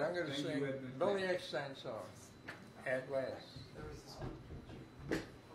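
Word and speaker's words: Eckstine: No, his name is Billy Epstein. Eckstein.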